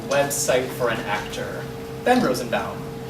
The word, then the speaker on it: Rosenbaum: the pronunciation should be rose and bound like l frank baum if it was bomb it would have an l instead of a u like lip balm i once had a